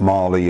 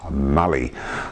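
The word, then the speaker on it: Mallee: It's not Marley, it's Mally.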